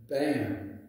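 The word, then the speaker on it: BAMN: Have you ever heard the word BAM? It's spelled just like the word D-A-M-N. It's called B-A-M-N, all right?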